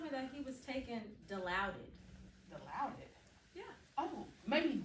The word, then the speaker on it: Dilaudid: Johnny here, and he told me that he was taking Dilaudid. Dilaudid? Yeah. Oh, maybe Dilaudid, which is a opioid agonist.